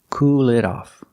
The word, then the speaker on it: cool it off: And the T is pronounced like a fast D. Cool it off.